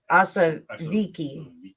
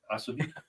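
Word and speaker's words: Ossowiecki: We need a V. Oswicki. What is W? I don't know. It's a V. Yeah, Oswicki.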